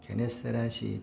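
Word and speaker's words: Γεννησαρέτ: 그래서 이제 긴내롯이라고 이제 아 이렇게 풀렀는데 이게 우리 성경은 이제 신약 성경은 헬라로 적어서 이제 긴데로설 이제 그 헬라의 발음으로 하면 게네세렛이 됩니다.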